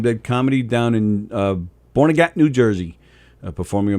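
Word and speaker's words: Barnegat: called born again well i actually i think it's pronounced bernadette actually yeah b-e-r-n-e-g-a-t bernaget yeah bernadette yeah bernadette new jersey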